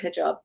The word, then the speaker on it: hijab: Hijab, is that how you say it? How they wear it? Am I saying that correctly? The Farsi pronunciation is hijab, but Iran is not the only place.